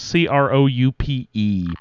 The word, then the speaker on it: Croup: How is Croupe? I say croup.